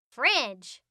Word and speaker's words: fridge: This word has two silent letters, the D and E. Shh. Shh. We say fridge.